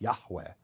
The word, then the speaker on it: Yahweh: Well, it in ancient Hebrew it's believed it wouldn't have been Yave. It would have been Ya. Yahweh, right? the the H would be pronounced Yahweh.